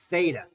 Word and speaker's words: theta: And it's pronounced theta, okay? It's a Greek letter, theta. It represents the angle.